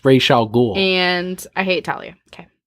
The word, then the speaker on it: Ra's al Ghul: Denny's also the one that was on Kevin Smith's Fat Man on Batman and said it's Ra's al Ghul.